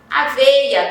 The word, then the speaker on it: aveia: Aveia também eu digo aveia, mas você observa que na palavra tem o I.